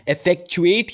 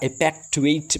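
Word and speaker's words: effectuate: Next word हमारे साथ है दैट इज इफेक्चुएट या इफेक्टुएट भी आप बोल सकते हैं। दोनों प्रोनाउंसिएशन में ज़रा गौर कीजिए।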